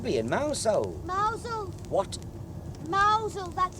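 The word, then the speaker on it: Mousehole: in mousehold mous what mousel that's how it's pronounced what are you talking about it's spelled mouse hole but they call it mousel do they bloody silly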